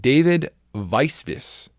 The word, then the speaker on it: David Weisvis: David Weisvis. I only can say that because he wrote it out for me, is how you pronounce it.